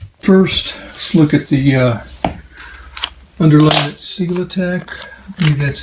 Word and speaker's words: SELITAC: these gaps in first look at the underlying single attack that's how it's pronounced and this is a underlayment that is